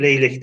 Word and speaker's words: leylek: Leklek diye yazılır, leylek diye okunur.